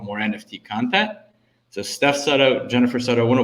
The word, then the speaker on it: Sutto: So Steph Sutto, Jennifer Sutto, I want to welcome you both to the show.